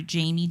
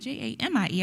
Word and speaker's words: Jaime: You can listen to the cast, or you can follow me on Instagram under Jamie, Jaime. I'm sorry, yeah, Jaime. I did not spell my name wrong.